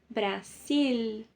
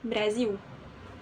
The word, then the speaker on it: Brasil: tiver dois L Ok se o l estiver no final você vai levar a língua lá em cima para pronunciar tá por exemplo Brasil sil vai lá em cima a língua não vai fazer isso com som de u Brasil não som de L Brasil Ok ã Ok